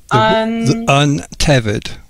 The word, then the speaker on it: untethered: Okay, Patrick, we are at that word I asked you how to pronounce. Okay, would you like me to say it? Again, please. Untethered.